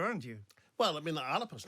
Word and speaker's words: Alba: It's Alapa in the Gaelic. How do you pronounce it? Alapa in the Gaelic. Alapa, a P. Alba in English. It's a soft pronunciation from the Gaelic.